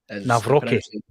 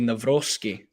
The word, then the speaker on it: Nawrocki: Yeah, I googled how to pronounce Mike Nawrocki. Nawrocki. Although we had a automated woman's voice saying Nawrocki.